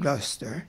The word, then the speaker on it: Gloucester: me spell the word gluster j u c s r and put j o s e r in bracket telling me that the pronunciation is gluster and when I came